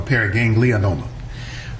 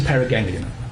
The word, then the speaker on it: paraganglioma: Doctor, just for clarification, is it pronounced paraganglioma or paraganglionoma? Yeah, I often add in the extra vowel, so it's a paraganglioma.